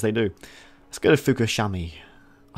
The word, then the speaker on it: Fukushima: Let's go to Fukushima.